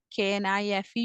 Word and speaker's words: knife: Knife, K-N-I-F-E. You all know K is silent here. And knife, N-I-F-E, knife.